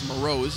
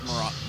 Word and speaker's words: Moroz: saying Rock's name wrong it's Moroz instead of maracas meraz so Moreau is